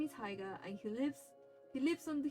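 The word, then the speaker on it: Haigha: His name is Haiga. He pronounces so as to rhyme with mayor."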